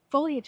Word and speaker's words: foliage: I've never heard anybody in our area say foliage. That's like how I always just heard peony. Well, foliage is the proper way to say it.